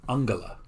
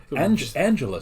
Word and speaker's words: Angela: history in Germany her first name was actually pronounced Angela with a harji instead of the softji that we use here in the United States so Angela sounds like a nice person Angelo sounds like